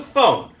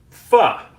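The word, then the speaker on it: phở: So, pho, right? You may know it pronounced as pho. That's not correct. It's pho. I may even not be saying it quite with the inflection correctly.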